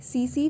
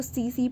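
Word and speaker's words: tsetse: तो ये होती है सीसी फ्लाई, ये टी साइलेंट होते हैं इसमें, इसको सीसी पढ़ते हैं, सीसी फ्लाई, और ये स्लीपिंग सिकनेस की वेक्टर होती है।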